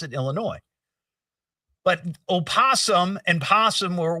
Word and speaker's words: Illinois: And he'd get so aggravated because I put an S at the end of Illinois. Now, I understand it's it's that's the correct way to pronounce it, Illinois.